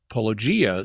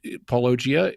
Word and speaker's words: Paulogia: later followers um when poia is poia however you say say his name is I know I ran into that as well but I've I think it's just pronounced Pia okay well um however